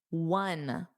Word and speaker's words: one: One. It's a W. It's the same as we won the game, which is spelled W N.